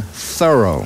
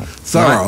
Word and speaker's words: Thoreau: miles down the road we pronounce his name thorough thorough like a thorough job we live in an